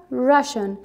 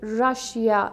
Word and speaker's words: Russia: Russia, Russian. Okay, dear guys, one thing I have to tell you, that do never pronounce it Russia. It's Russia, remember.